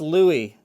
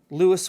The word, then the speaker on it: Lewis: Lewis was a German American, and everything I've read about the guy says that he pronounced his name Lewis. So I'm going to go with Lewis, but it could be Louis. You could be right.